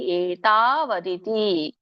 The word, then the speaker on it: ಏತಾವದಿತಿ: ಹಾಗೆ ಹೇಳಿ ಕಾಮೋಪಭೋಗ ಪರಮ ಏತಾವದಿತಿ ವದಿತಿ ದೀರ್ಘ ಇಲ್ಲ ಅಲ್ಲಿ ಏತಾವದಿತಿ ನಿಶ್ಚಿತಾಹ ಏತಾವದಿತಿ ಬಿಡಿಸಿದಾಗ ಏತಾವತ್